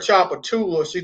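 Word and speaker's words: Tchoupitoulas: She was like, there's no way that's pronounced Chapatulas with a silent T.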